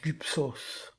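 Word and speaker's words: γύψ: La lettre Y porte en réalité mal son nom puisqu'elle se prononce u en grec ancien. On vient de voir gyps qui se prononce gups et de même pour les mots commençant par ra.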